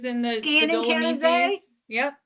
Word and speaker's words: Canazei: And I can't pronounce this, so I'm going to let Megan pronounce Canazei. I don't know. I should have practiced. You nailed it. Yeah. Canazei is in the Skiing in Dolomites. Canazei.